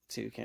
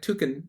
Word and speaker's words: toucan: : How are you supposed to pronounce Toucan? : I think they : Did : say : you say : tukan. : toucan? : No, like tukan.